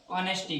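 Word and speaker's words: honesty: अब आप कहोगे इसको ऑनेस्टी नहीं पढ़ते क्योंकि इसमें एच रहता है। वो क्या रहता है? एच क्या रहता है? साइलेंट रहता है। क्या रहता है? साइलेंट रहता है। तो इसको अपन ऑनेस्टी पढ़ते हैं।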